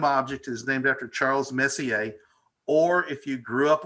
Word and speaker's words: Messier: It was Messier, and I finally realized it's French and very quickly started saying Messier, and I'm proud of my roots.